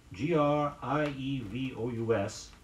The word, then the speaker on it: grievous: ceremony was overwhelming grievous gr ie V o us means atrocious or flagrant avoid using one too many sounds in pronouncing it say it was a grievous offence it was a grievous